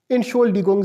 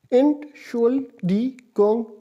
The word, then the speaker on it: Entschuldigung: इसका स्पेलिंग है ENTSCHULDIGUNG, एंट शुअल डी गोंग, spelling पर गौर करें, ENTSCHULDIGUNG SIE, एंट शुअल डी गोंग जी, इन शोल डी गोंग जी, इस तरह कहते